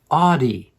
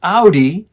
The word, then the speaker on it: audi: It is AUDi. It's not Audi, which is the name of a car.